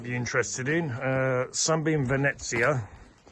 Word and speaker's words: Venezia: interested in uh Sunbeam venetsia I used to call it Venezia and then I was corrected by someone who spoke